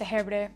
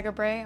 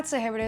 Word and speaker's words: Sehebre: My last name is pronounced Sehebre. Most people also ask me that. You can also say Segabre, I'm pretty used to that, but Sehebre is my full name.